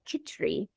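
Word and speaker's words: khichdi: the world eat and it's called kitri Uh k i c h a re e e kitri it's spelled different ways spinach is last and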